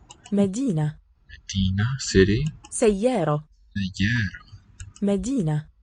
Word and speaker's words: مدينة: Medina, city. سيارة. Sayyara. مدينة. Medina. سيارة. Listen to the different quality of the vowel, those final syllables.